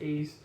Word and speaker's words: Ys: of people call it wise a lot of people call it probably something else but believe it's pronounced ease and this memories of